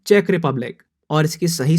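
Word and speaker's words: Czech Republic: बजाय सीसैट है और इसकी सही प्रनंसीएशन है चेक रिपब्लिक और इसकी सही स्पेलिंग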